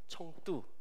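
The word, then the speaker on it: 成都: 성도, 청두, 중국식 발음으로는 청두라고 하는데 이 사천성 어디냐면 티벳 서장 자치구 바로 오른쪽이에요.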